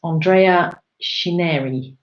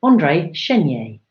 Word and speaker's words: André Chénier: go to the guillotine along his lover that's Andreia shanira andré chénier o helpful pronounciation notes there Jane Thank You Andre shin yay should have read that last movie thunderation name